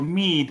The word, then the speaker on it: Mead: O Mead, la pronuncia, se escribe M-E-A-D.